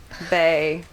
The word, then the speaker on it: bae: the water comes in BAE rhymes with slave I I don't know